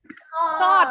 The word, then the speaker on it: thought: Tapi GH-nya silent. Huruf U-nya silent. Jadi bacanya thought.